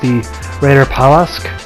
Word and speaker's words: Reiterpallasch: is pretty terrible but I think it's pronounced the Raider Palace that's up to Berta